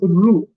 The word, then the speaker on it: rue: Rue is pronounced as Rue.